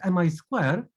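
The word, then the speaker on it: Mi²: say that the the the way how we should pronounce our lab is mi square because it comes from the square it comes from names of two faculties um from which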